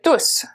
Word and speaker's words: tousse: Je tousse. Je tousse. Il tousse. Okay? Tousse. The E at the end is silent again.